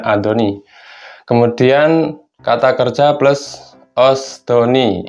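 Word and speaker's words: 았더니: Ini untuk kata kerja yang berakhiran vokal A atau O ya, menggunakan asdoni, bacanya adoni.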